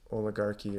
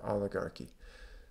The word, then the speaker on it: oligarchy: Or oligarchs, it's pronounced both ways, oligarchy or oligarchy.